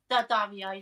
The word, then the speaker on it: Daddario: I can never pronounce that. Alexandra Daddario. Daddario.